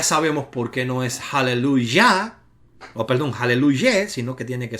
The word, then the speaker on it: aleluya: Por lo tanto, aleluya está acentuada en la última sílaba, no puede ser aleluya porque una shevat no puede llevar la sílaba acentuada y tiene que ser cambiada a una segol, es decir, una E corta, o tiene que ser cambiada a una kamak, es decir, una A larga.